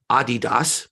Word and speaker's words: Adidas: Europe uh in uh Adidas is how they say it over there and I'm the author